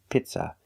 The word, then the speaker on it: pizza: word is pizza pizza the first vowel is a long e like green beans P Pizza we don't use the short sound I like milk it's not pizza it's P Pizza the second syllable is not stressed it's pronounced with a relaxed uh Pizza Pizza use a relax uh like cup and up it's not pizza it's Pizza uh uh pizza pizza